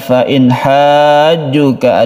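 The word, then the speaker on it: فَإِنْ حَاجُّوكَ: Dari depan fa in hajjuka ada nun mati bertemu dengan ha, kita sebut dengan izhar halqi. Izhar artinya terang atau jelas, halqi artinya tenggorokan, bahwa huruf-huruf izhar itu ada di tenggorokan makhrajnya.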